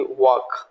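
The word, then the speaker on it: walk: CHAL के चाक, तो एल का प्रोनाउंसिएशन अगेन हमको नहीं करना है। WAL के वॉक, FOL के Fock, HALF half, PALM palm और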